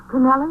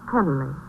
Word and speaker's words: Canelli: That's what I want to talk to you about, Captain Canelli. Oh, how do you pronounce it? Canelli or Kennley? Canelli.